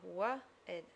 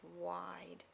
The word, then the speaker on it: wide: Now if you just wrote that, that would sound wa-id, which I don't know if is a word, but the word we want today is wide. You need that silent E on. You don't have to draw those arrows in, that's just to help you think about that job makes that E on the end makes no sound, but its job is still important.